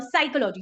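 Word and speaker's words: psychology: साइकोलॉजी की spelling कहां से स्टार्ट होती है? पी से स्टार्ट होती है। लेकिन मोस्ट ऑफ द लोग जिनको इंग्लिश के बारे में ज्यादा नहीं पता है या फिर उनका बैकग्राउंड उन्होंने स्टडी इंग्लिश से नहीं किया है तो वो समझेंगे सी से स्टार्ट होता है साइकोलॉजी।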